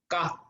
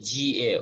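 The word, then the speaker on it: ཀ: It's very soft. It's not ga. It's not ga. Okay, it's ka.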